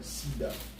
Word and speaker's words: SIDA: All right, just like the AIDS, man, just like the SIDA. That's how you say it in French, SIDA.